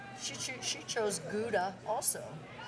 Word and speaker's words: Gouda: She ch she chose Gouda. Also, how do you say that word? Gauda. Gauda. As they say in uh its home country.